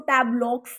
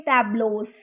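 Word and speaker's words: tableaux: यहाँ पर एक्स है तो आप इस चीज़ पे ध्यान दीजिए, हमने इसको टैब्लॉक्स नहीं पढ़ना, इसकी प्रोनाउंसिएशन होती है टैब्लोस, ओके।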